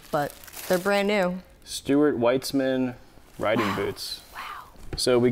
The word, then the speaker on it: Weitzman: Oh, Stuart Weitzman? Is that how you say it? Weitzman? I say Weitzman.